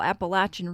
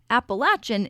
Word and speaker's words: Appalachian: ways this is pronounced in the Southern and Central Appalachian region appalachin is the common pronunciation in other areas people